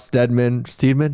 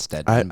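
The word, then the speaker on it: Steadman: mean, and it was Ralph Steedman. How do you know how to say it? I think it's Stedman. I but never know. Everybody I ever He's, hear say it is say it as Stedman.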